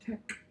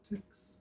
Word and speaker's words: LaTeX: The LA in Lamport is in latex is Lamport, and the TEX is pronounced tech, not tex. If you say tex, You reveal yourself to be an ignorant person.